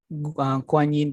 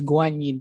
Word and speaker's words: Guanyin: is in english but in chinese we call it as a kuan yin temple but the real pronunciation is um the right pronunciation is guanyin temple i think temple in